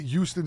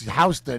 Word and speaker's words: Houston: Because he pronounced it Houston Street his whole adult life. No, and I then- didn't. And then somebody goes, "Hey, jerk off! It's Houston," and he got all but embarrassed.